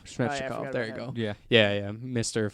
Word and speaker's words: Svechnikov: Fucking, how do you pronounce it? Slavin? No, the Russian kid. Oh, Svechnikov. Svechnikov, there you go.